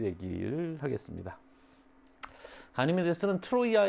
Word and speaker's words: 트로이아: 얘기를 하겠습니다 가니메데 쓰는 트로이아 의 왕자 입니다 매트로 이 아가 그 전부터 계속 의식 되고 있는 거죠 트로이 전제 트로이 않은 트로이의 그리스 발음 이에요 크로 트로이는 영어식 발음 이제 트로이아 트로이의 왕자